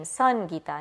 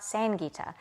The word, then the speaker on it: Sangita: It's the sun, right? In the name, Sangita, not Sangita. But immediately if I say, hi, my name is Sangita, what?